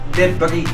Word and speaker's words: debris: de debris may tumama sa kanila ang tamang pronunciation ay debris Uy ano ano ano y zero So